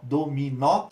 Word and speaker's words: dominó: regra dominou tão dominou qual é a sílaba tônica nós dominó então como a sua a tônica é a última a gente classifica com